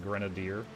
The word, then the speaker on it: grenadier: It's pronounced grenadier. Grenada hyphen deer.